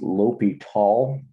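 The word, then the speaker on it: L'Hôpital: There is a limit thing called it's pronounced L'Hopital, I believe.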